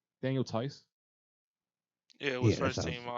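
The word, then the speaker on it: Theis: i think the t i think the h is silent daniel tyce yeah it was first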